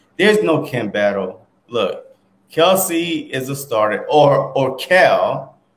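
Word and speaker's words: Kelce: Look, Kelsey is a starter, or Kel, because his brother came out and said that we all they said their last name wrong. So Kels, I think it's Kels or Kel.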